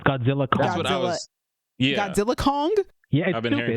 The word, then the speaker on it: Godzilla x Kong: Kong Empire say the X apparently so it's Godzilla Kong Godzilla Kong I've been hearing people say Godzilla